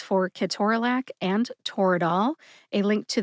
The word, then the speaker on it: ketorolac: I divided Ke-TOR-a-LAC and Toradol into syllables. We talked about which syllables to emphasize, and then I shared my sources.